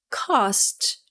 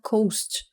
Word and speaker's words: cost: Então, a primeira pronúncia é cost. E o erro comum é a pessoa falar coast.